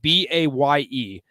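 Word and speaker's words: Baye: butchering that first name it's spelled b-a-y-e Bay in Dongo n-d-o-n-g-o so last name sounds right yeah unless the end is silent it's just Dongo that is also a possible that's also a possibility so who knows I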